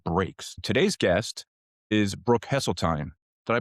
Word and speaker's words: Hesseltine: Today's guest is Brooke Hesseline. Did I pronounce that right, Brooke?